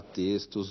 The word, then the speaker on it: textos: Na palavra textos, o X se pronuncia como S.